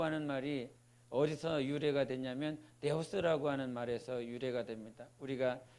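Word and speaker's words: Θεός: 근데 그 뜻이 무엇이냐면 데오라고 하는 말이 어디서 유래가 됐냐면 데오스라고 하는 말에서 유래가 됩니다. 우리가 칠판에 보면 이렇게 번데기처럼 이렇게 하지 않습니까? 번데기처럼 이렇게 읽는데 이걸 헬라어로 말하면 디귿 발음이 납니다.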